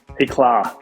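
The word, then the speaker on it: Éclat: Éclà. Éclà, like a little, like Target, a little bit. Like it means, yes, it's be brilliant in French.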